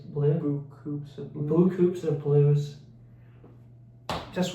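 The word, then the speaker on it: Beaucoups of Blues: Blue of Blue Coops of Blues.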